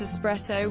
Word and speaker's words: espresso: When people pronounce espresso with an X sound. God, that pisses me off. Does it look like espresso has an X in it?